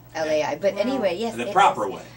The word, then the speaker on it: Lei: Lai oh that's okay it sounds like Lai but anyway yes the